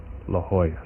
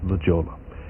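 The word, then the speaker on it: La Jolla: La Hoya. Some people pronounce that Legola.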